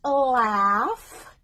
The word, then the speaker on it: laugh: So we don't say laugh. Oh, I'm laughing. Ho, ho, ho. No, I'm laughing. Laugh. A plus U, not O.